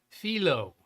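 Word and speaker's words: phyllo: I've used all caps and your pastry word is pronounced philo.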